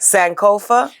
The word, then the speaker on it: Sankofa: saaka I don't know how to say it Sankofa yeah I knew what you was talking about